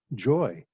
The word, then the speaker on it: Xhoi: His first name is spelled Xhoi and pronounced joy, and he certainly lived